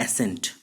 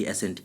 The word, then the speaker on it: assent: Next जो word है एक्सेंट के बाद, ये वर्ड है, इसका प्रोनाउंसिएशन थोड़ा अलग है। इसको बोलते हैं हम लोग एसेंट, ASSENT, एसेंट।